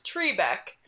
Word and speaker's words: Trebek: at the beginning of every episode who says tree Beck why does everyone say Alex Trebek when the guy introducing him on the show pronounce it as Trebek we are [ __